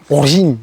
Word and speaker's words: Origine: bisiklet origine Origin yaş Fransızca nasıl okunuyor bilmiyorum orin diye okunuyormuş aome axx o 350